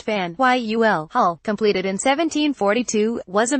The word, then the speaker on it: Faneuil Hall: a history of dissent Fanueil pronounced van Yul hull completed in 1742 was